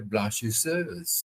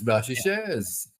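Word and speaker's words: Blanchisseuse: Um you you pronounce the name of towns and so on in the way in which the people of the area pronounce it.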